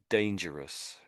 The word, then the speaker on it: dangerous: So, dangerous. Dangerous. Dangerous. Yeah. So, you're perhaps g a little bit too much emphasis to the the Russ on the end. You get too strong.